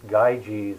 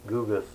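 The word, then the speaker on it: Gyges: this uh googas his name is often often pronounced gaiji's but i think the correct pronunciation is googas and there's a by the way there's an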